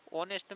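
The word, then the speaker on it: honest: होता है प्यारे मित्रों ऑनेस्ट में देखिए एच लिखा हुआ है लेकिन आपको क्या है इसमें एच नहीं पढ़ना है क्या पढ़ना है ओ एन ई एस यानी एच इसमें सिर्फ क्या होता है साइलेंट होता है ठीक है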